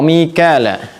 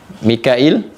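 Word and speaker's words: ميكائيل: Wa Mikala, Mikail, Michael di sana menyebutnya, atau Michel juga, ya. Mikail. Ini di riwayatnya Warash dibacanya Mikail, ya. Di Hafs dibacanya Mikal, ya.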